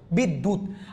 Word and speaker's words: বিদ্যুৎ: লিখেছি বিদ্যুৎ লিখেছি বিদ্যা দেখেন বিদ্যুৎ মাঝখানে আছে জফলাটা উচ্চারণ হচ্ছে না দত্ত উচ্চারণ হচ্ছে বিদ আর আপনারা জানেন খন্ডত হস চিহ্নটা নেয় না খন্ডত কিসে চলে যাবে ততে চলে যাবে বিদ্যুত আচ্ছা এখানে কি লিখেছি